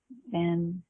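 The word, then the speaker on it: Cyn: You have to say her name is Cindy, but she called her Sin. Right. That's yeah. Sin. So Sin was C-Y-N.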